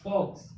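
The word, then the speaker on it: folks: Pronunciation कितने का किया? WOUD, would. वुड मीन्स चाहेंगे। उसका फॉक्स मीन्स मित्र, या फिर कह सकते हैं सगे संबंधी।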